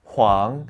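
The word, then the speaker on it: 皇: This character is pronounced huang and means emperor.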